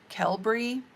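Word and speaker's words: Qelbree: re e e cbury but it's not qua is not how they pronounce it they they pronounce it like the Q like a k kelb we'll see how it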